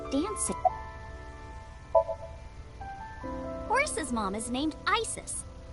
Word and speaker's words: Isis: Horus's mom is named Isis. But in ancient Egyptian, it's pronounced closer to Iset or Aset.